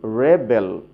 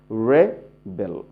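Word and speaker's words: rebel: Noun হলে আমরা কিভাবে উচ্চারণ করব? এরকম, ফার্স্ট সিলেবলটি স্ট্রেস দেব, জোরে উচ্চারণ করব, এবং সেকেন্ড সিলেবলটি লো, একদম সফট করে উচ্চারণ করব।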